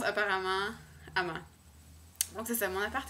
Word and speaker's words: Amager: sur l'île je pense que ça se prononce Ama. Mais ça s'écrit, en français, j'imagine qu'on dirait en français Amager. A-M-A-G-E-R. Amager en anglais. Mais la prononciation danoise étant vraiment n'importe quoi. Ça se prononce apparemment Ama.